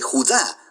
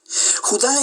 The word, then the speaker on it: Judá: carta de Judas o más precisamente Judá de acuerdo con la pronunciación de su nombre tanto en griego como en hebreo Judá Era uno de los